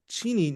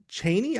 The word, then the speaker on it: Cheney: And it's Cheni, not Cheney. I don't know. I I know it's spelled E N, but I I think in my head I always said Cheney. Like we had a vice president who spelled his name the same way this town is and everybody called him Dick Cheney.